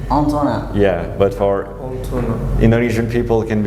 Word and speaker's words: Antonin: Well, my name is Anto, even if it's a nickname for Indonesian people, because my real name in French pronunciation is Antonin. Antonin.